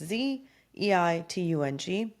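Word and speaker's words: Bild-Zeitung: I don't even know if I'm pronouncing that right, but it's Zeitung.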